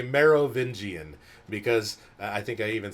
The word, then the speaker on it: Merovingian: getting ready to say Merovingian, because I think I even said it wrong. I had to like spell it out. Marrow, like bone marrow, Vingian. Like, why is the Merovingian so important and everything that's going on?